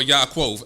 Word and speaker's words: Yaakov: So it said, these are the generations of Jacob, or Yaakov, as you would say his name in Hebrew.